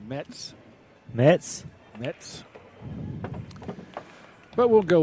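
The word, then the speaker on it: Mezz: the United States he tells me it's actually pronounced Mets Mets Mets but we'll go with mez since that's what everyone knows and Rodney Morris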